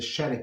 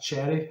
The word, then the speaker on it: sherry: They have the sherry cask, not cherry. Some pronounce sherry.